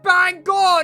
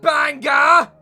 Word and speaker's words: Bangor: It was said you'd pronounce it Bangor, not Bangor!